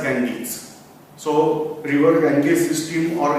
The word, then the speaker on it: Ganges: system that is ganga now we have name as ganga but in English it is pronounced as Ganges so River Gangi system